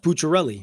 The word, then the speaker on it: Pucciarelli: Well, not really, because his last name is pronounced Pucciarelli.